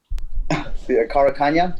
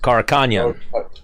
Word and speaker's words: Karakhanyan: How do you pronounce that last name? Karakhanyan. Karakhanyan.